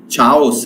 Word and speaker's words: chaos: CHAOS is not chaos, remember. This is chaos. Chaos. So this is k sound.